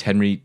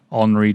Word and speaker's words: Henri: the cinematographer, who is Henry Decay, if that pronounced that right, Andy. But he was fantastic. Given that it's French, I'm going to guess it is Henri Decay. Yeah, not Henry, Henri.